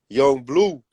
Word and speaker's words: Yung Bleu: And it said Young Blue, but it was spelled like Bleu, you know what I'm saying?